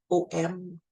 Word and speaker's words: Om: Le troisième œil qui va être le Om, donc O-M, Om.